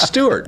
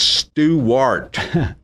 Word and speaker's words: Stewart: No, it's Stewart. Two syllables. No, It's Stewart. My mother, I had to